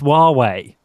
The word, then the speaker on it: Huawei: you're messing around but I believe it's pronounced Huawei I have no idea what's